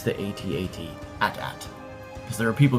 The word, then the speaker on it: AT-AT: That's not how you pronounce the AT-AT. It's AT-AT, not at.